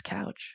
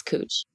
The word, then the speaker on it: Couch: think of go on coach that's right it's couch cooch Street yeah it's spelled like couch that's the obvious answer and so you should announce that couch yeah but it's cooch which just sounds sexual uh Julia what about